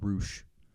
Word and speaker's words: Rush: I've been fucked up as a wrestler who's named Roosh, and it's spelled Rush.